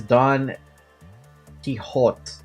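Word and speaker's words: Don Quixote: so many books also you pronounce it as Don kihot kihot Spanish my Spanish is abysmal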